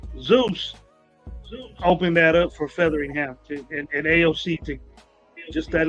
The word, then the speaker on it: Featheringham: Featheringham. Featheringham. Like feather. Feathering, like you're getting a feathering, like a hairy feather.